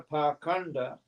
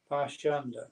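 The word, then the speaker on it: pāṣaṇḍa: A palavra pakanda, usada neste verso, é às vezes pronunciada como pashanda.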